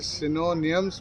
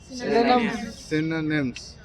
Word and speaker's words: synonyms: कई बार उसे सिनोनियम्स बोलते हैं, वो जो है प्रोनाउंसिएशन गलत है। आप क्या बोलिए? सिनोनिम्स।